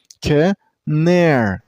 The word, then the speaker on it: Canary: And while you pronounce the word, you also stress on the middle syllable. I mean on the second syllable. So, canary. Canary. Not canary. It's canary. Canary.